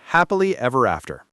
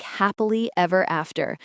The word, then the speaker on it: happily ever after: Or, when I found my dream job, it felt like happily ever after. Or, when I finally learned to cook, I lived happily ever after. The stress is on happily and after.